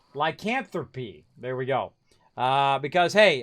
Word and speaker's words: lycanthropy: My theory is that the angry earth infected them with the lanthropy.